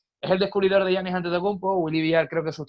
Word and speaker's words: Antetokounmpo: Resulta que es Antetokounmpo.